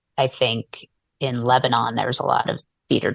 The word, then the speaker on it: Lebanon: Pennsylvania was called Lebanon um often you know pronounced Lebanon but we pronounce it Lebanon and the we had a lot of cedar